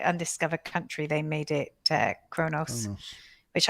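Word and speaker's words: Qo'noS: Country, they made it Kronos, which I never realized how Kronos was spelt. I always kind of thought it was spelt with a K, but it's like QO. Quonos. Yeah. QO dash NOS. Quonos.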